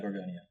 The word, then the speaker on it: Gorgonio: Yeah, Gorgonio.